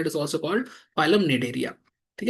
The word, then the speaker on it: Cnidaria: है कि commonly called निडरिया। यहां हिंदी में लिखा है निडर। मतलब निडर ऐसे याद करने का तरीका है कि निडर सी साइलेंट है।